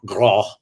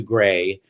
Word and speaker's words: Graae: is really great right do they say it that way in danish yeah no they say grah does anybody say gray everybody i know so i'm introduced i actually changed my name to the pronunciation to gray because of my first agent in new york lou rosen yes jason no one's gonna know what to do with grass so we changed it to gray for a while and